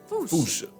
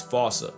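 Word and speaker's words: fossa: Foocha. Like foo with a performance anxiety uh at the end. Experts feel free to correct me, but apparently that is the closest to the OG Malagasi pronunciation.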